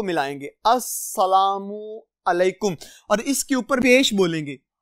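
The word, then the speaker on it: السلام علیکم: तो अजीज तुलबा ये ज़हन में रखिएगा, ये लाम अस्सलामु अलैकुम में नहीं पढ़ी जाती, ये जैसे इंग्लिश में कहते हैं साइलेंट हो जाती है, यहां पे भी ये पढ़ी नहीं जाती।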